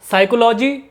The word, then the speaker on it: psychology: PSYCHOLOGY, साइकोलॉजी, साइकोलॉजी Hindi में मतलब मनोविज्ञान, तो यहाँ पे आप देख सकते हैं P साइलेंट है।